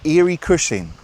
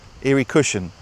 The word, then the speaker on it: Eary Cushlin: I'm at a place a place called uh Eerie Cushing. I most people seem to say it like cushion. Eerie Cushion, but it's spelled like c u s h l i n and eerie e a r y.